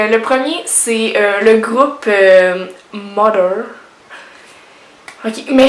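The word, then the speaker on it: MOTHXR: Ok, mais je ne sais pas comment le dire, je suis pas certaine, mais je pense que c'est Mother, mais ça s'écrit M-O-T-H-X-R. Mais je pense que ça se dit Mother.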